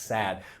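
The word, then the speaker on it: Saad: by What what what's his I forget his first name his last name is S A A D and so it's just I think it's pronounced sad.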